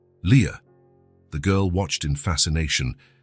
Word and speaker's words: Lia: This is your name, he explained, pointing at each letter as he pronounced them. Lia A. Leah.